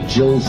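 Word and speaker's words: gill: 1 pint, and 3 Jills worth of liquid. It's spelled G-I-L-L, but it's pronounced with a hard, so it's like, it sounds like Jill, like a girl. Otherwise, it sounds fishy.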